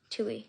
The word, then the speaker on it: Tui: Hope I pronounced that right. Air foil the Firebird. Captain Amelia Chief Tu Tui. Tui. Thank you. Tui.